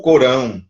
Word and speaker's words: Corão: Que chama-se Alcorão, mas a pronúncia no português é o Corão, que é o livro sagrado dos muçulmanos.